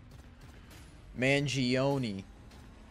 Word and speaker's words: Mangione: Mangione. Like Oni Pixel. I did get tickets for Austin. Did I reply to that? I got 4 of them. Alright, under 24. Luigi Mangione.